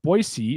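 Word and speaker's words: Boise: back up um but boyy is the correct way to say it I've been told and uh yeah we're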